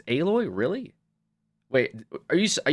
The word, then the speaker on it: Aloy: Aloy, not alloy. It's Aloy.